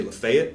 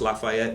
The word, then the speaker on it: Lafayette: say this correctly but down there they say Lafayette I know it's pronounced Lafayette everywhere else in the world this is Lafayette